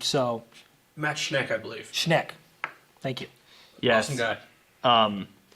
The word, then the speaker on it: Schneck: Schneck. Thank you. Yes. Awesome guy. Funny story with that. On BYU Sports Nation today, Jerem pronounced his name Matt Shank, and then Colton said he just butchered the pronunciation.